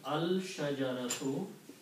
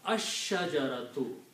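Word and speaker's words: الشجرة: When you put al before that, it becomes al-shajaratu. When you pronounce, lam is not pronounced because sheen is a shamsi letter. It is pronounced ash-shajaratu.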